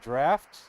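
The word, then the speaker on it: draught: you of is it of the wus it's pronounced draft that's how you pronounce drought is draft oh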